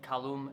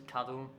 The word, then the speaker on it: Kadum: I was saying his name wrong. It wasn't Kalum, it was Kadum.